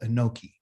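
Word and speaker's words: אנכי: And the way that you say I am in Hebrew is by using the word which we would call Anoki. Okay.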